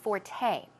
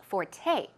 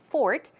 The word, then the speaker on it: forte: use of the word Forte okay it's sor te but it's pronounced Forte the stress goes on the second syllable okay it's not Fork its Forte Forte it